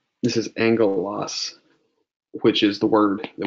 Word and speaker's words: angelos: So gamma is almost always pronounced like a G sound. There are a couple of exceptions. And one that's kind of important is this word. This is angelos, which is the word that we translate angel.